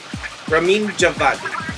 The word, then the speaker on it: Ramin Djawadi: is apparently Persian yes Ramin Djawadi okay so the D is silent so I was just